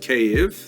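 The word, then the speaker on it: Kyiv: around the city of cave that's the Ukrainian pronunciation by the way that's favored today because of course Ukrainian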